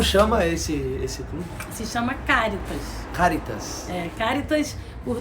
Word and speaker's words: Charitas: E o bairro de Charitas, na verdade, o nome é Caritas. Que legal. Mas porque Caritas em latim se escreve com CH. Uhum. Então as pessoas chamaram de Charitas, mas Entendi. É Caritas.